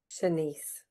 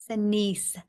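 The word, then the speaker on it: Shanse: Senise. Senise.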